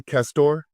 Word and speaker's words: Castore: And uh by the way, am I pronouncing your last name correctly, Castor?